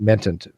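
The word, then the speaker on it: Mehta: You look at Hermat Mentant from The Friendly Atheist. Is that how you pronounce the last name? Mentant? Hemant Menta. Menta. Yeah, Hemant Menta.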